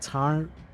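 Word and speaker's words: Tairngire: The old Irish pronunciation is more like Tarngire.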